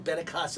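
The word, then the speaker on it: Benincasa: in studio today, Benicasa. Benicasa. Am I pronouncing that right? Yes, you are.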